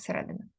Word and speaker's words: середина: також в словах наприклад середина середина так сюди наголос середина у присвійних прикметниках типу